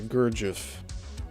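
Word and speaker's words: Gurdjieff: and the system taught in modern times by Gurgif. That's spelled Gu U R D J I E FF.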